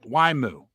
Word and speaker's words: YMU: Now you pronounce it like the word Y and then mu. Now I'll write that out for you too. Y. Moo. Like a cow says moo. The word Y and then moo.